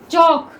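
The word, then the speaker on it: chalk: Next देखिए चौक, इसमें L silent रहता है, चौक।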